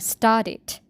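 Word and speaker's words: started: that kind of case we add extra sound which is it so we pronounce like start it it start it uh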